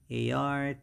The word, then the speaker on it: artery: and 69 is called a-r-t-e-r-y and it's our artery and the pronunciation is the stresses on the first syllable and it's ah and